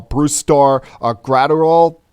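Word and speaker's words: Brusdar Graterol: Red Sox picking up a young right-hander our Bruce Starr a grad or all first time this week I've pronounced that name correctly and with the twins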